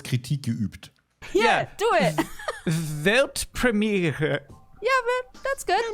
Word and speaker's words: Weltpremiere: It's actually Weltpremiere. Tu mir jetzt. Pretty similar, right? I think I could do that. Da wurde wahrscheinlich kurz Kritik geübt. Yeah, do it. Weltpremiere.